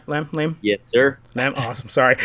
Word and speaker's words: Lam: Lam?